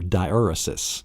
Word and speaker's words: diaeresis: Then the last one, after your macron, then you have what is called your diaeresis. Diaeresis, that's the correct pronunciation of the sixth mark, the diacritical mark.